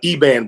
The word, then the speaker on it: Eban: so much thank you so that's how we pronounce it brown right uh uh eban Brown eban okay okay see we wanted to get it right I would have pronounced it Evan Evan well you can do that eban or